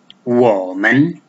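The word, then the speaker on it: 我们: It will be woman, woman. The third one on O and men don't have any tone value or tones.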